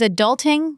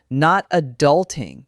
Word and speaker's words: adulting: It is adulting, the stress is on the second syllable. Adulting, not adulting. Perfect. This is a common error. Many Spanish speakers say adulting because the stress pattern feels natural from their language.